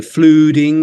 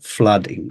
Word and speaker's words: flooding: flooding so I I've heard some people say fluing or something like this actually the pronunciation is flooding or flood flooding okay and then the next